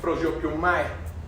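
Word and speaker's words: προσεύχομαι: Así se escribe y así se pronuncia, ¿no? Prosopiomae, ¿ok?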